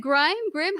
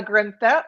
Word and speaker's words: Grimm: Is it Grimm? How do you say it? Grimm, like the Grimm fairy tales.